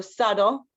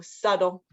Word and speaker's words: subtle: one has a b but the B is silence English breaks a lot of its rules um so subtle uh also the t is not really pronounced with the T sound with the T sound like tiger um it's it's a D sound so it would phonetically be spelled like SLE like that so subtle these ones are interesting